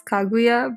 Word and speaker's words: Kaguya: like the right name the right way to pronounce it is kaguya but uh oh you